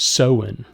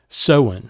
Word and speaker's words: Samhain: That is the Druid or the Celtic tradition of, I think it's Samhain. It's spelled very differently than how you pronounce it, Samhain.